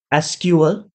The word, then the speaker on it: SQL: See, for pronouncing it, it can be pronounced in two ways. One is SQL that most people use, and few people also use SQL. So don't get confused with the pronunciation. It's gonna be SQL or SQL.